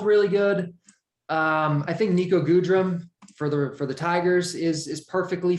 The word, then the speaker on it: Goodrum: Okay, could you do me a favor and not call him Goodrum? Because his name is Good Rum, and you just shouldn't, even if that's not how it's supposed to be pronounced, just give him the cooler pronunciation.